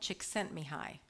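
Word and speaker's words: Csíkszentmihályi: Hungarian psychologist named Mel chent mihi 16 letters four syllables I am not spelling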